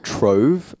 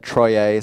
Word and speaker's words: Troye: How many times do people say your name wrong, Troy, because it's spelled with the E at the end? Do they say Troye a lot? I get a lot of Trove, like Uber drivers always think my name is Trove.